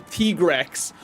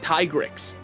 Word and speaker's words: Trex: There's also two Zam trios, a Trex, by the way. That's how you pronounce his name. I found that out yesterday. His name is not Tyrix. That is Trex.